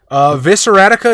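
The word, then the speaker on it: Vicissitude: tribute but you know we've heard it pronounced other ways Visser Attica is the way Matthew Dawkins pronounces it so I'm gonna call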